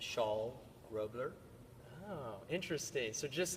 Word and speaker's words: Charl: Well, it's pronounced like a woman wears a shawl on her shoulders. So the name is Charl.